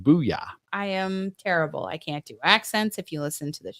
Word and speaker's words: Bulla: Booyah. Or yes. It's spelled Bulla. I'm sorry. Bulla. Yes. Pronounced Booyah.